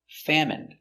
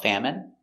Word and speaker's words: famine: jasmine tea very good so remember these special words ending with i n e we pronounce them all the same in in remember medicine margarine intestine or intestines more than one genuine famine remember it's countable a